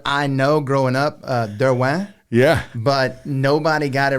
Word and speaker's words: Derouen: that I ended up my last name because I was I just like I'm just going with it so I say but derw is actually the uh French pronunciation there you go